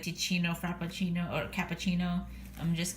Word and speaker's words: Teeccino: And they have this cute little flap that says, Psst, Teeccino rhymes with cappuccino. So Teeccino.